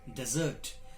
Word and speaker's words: desert: it is used as a verb, it is pronounced as desert. And it is used as a verb here in this poem, desert, which means to abandon.